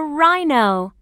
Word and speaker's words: rhino: learn this is a rhino what's the beginning sound in rhino that's right rhino can you hear the sound in rhino no that's right the H is silent rhino this is a